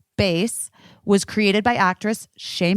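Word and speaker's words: BÉIS: it all while also looking Chic guess what Bas is for you BAS it's spelled be i s bass was created by actress sheay Mitchell to make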